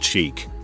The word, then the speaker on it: chic: seen it several times chic is a french word pronounced chic that roughly translates to fashionable but when referring to